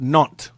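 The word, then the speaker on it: Nantes: think it's called ntis It's pronounced non it's French it's a a French area it's called non okay this is a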